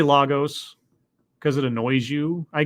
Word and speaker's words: Lagos: I regularly bash Marvel, including in Slate, for its inability to have its characters properly pronounce Lagos, the name of Nigeria's biggest city and arguably the most populous in Africa. Say it with me again, Lagos. It's really not hard.